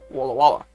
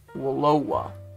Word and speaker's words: Walla Walla: and well as avoiding a felonious recount in Walla Walla. I think that's how it's pronounced. Walloa.